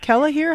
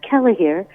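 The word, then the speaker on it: Kellehear: it is tell me this man's name again kellah here how do you spell that uh his last name is kellah here k e l l e h e a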